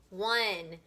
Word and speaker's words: one: is o in e what is this word one and this is not like i won the game that's w-o-n one o-n-e is like the number one so we have one